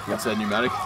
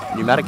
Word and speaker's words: pneumatic: work with BT okay pneumatic pneumatic tires it has a silent P at the start of it they're making me read